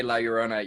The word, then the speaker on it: La Llorona: Well, you just from now on when we say La Llorona, you have to really roll your R's.